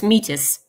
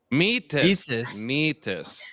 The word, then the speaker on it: Metis: There's a very easy way to remember it. We say there is me in Metis.